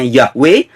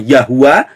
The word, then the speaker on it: Yahweh: dikatakan ada yang membacanya Yahweh ada yang membacanya yahua ada yang membacanya yehufa Yeremia 10 ayat 10